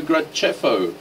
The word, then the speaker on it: Graceffo: It's spelled with a C-E. Clearly it's pronounced Ceffo. Obviously, because, you know, there's no H or anything in there for the... If it was an H, there. It would be K.